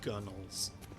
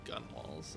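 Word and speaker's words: gunwale: It's probably pronounced gunnels instead of gun walls or gun whales.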